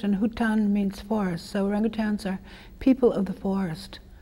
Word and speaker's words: orangutan: that everyone mispronounces orangutan it should be orangutan everyone says orangutang doesn't that drive you